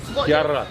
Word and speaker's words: Chiara: Chiara.